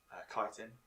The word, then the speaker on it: chitin: like carved into his chitin yeah kiten you pronounce it um and uh he's